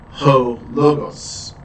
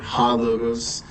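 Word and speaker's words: ὁ λόγος: So ho-logos, right? Or you could say, some people will say, because of the rough reading mark, ho-logos or ha-logos.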